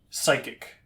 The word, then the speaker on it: psychic: It's like psychic, right? There's a P in there for no reason.